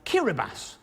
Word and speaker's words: Kiribati: Kiribati, that's how you pronounce it, is the only country that falls in all 4 hemispheres.